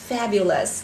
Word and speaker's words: fabulous: Các bạn cùng nghe cô đọc lại một lần nữa nhé, đọc thật chậm này. Fabulous, fabulous, fabulous. Trong âm dương thứ nhất đúng không ạ?